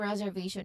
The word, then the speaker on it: reservation: So pronunciation tips, pronunciation wise, we should you should remember to stress on that middle syllable v. Reservation. So the syllable stress is on v. Basically you say it as reservation. All right. You don't make the sounds around it too weak or rushed though. So um they are equally they are almost equally stressed except the v the third syllable.